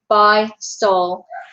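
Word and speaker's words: Beistle: It says it like right here, but it's B-E-I-S-T-L-E. No one can ever pronounce it, but it is Bystol, and they can go,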